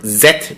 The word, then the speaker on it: Zet: be wondering what is what does ejected or zet mean well that is how Koreans pronounce the letter Z which was passed down